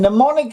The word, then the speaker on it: mnemonic: is in Greek and mnemonic it starts with a silent M so it's a difficult word and mnemonic is anything that reminds